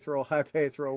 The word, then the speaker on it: Hypaethral: I say it as like Hypaethral Records. So yeah, you're close. I'm somewhere in the realm. Sorry, Hypaethral, whatever it is.